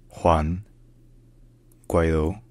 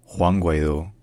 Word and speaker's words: Juan Guaidó: In Spanish, his name is pronounced Juan Guaidó, Juan Guaidó, Juan Guaidó, Juan Guaidó.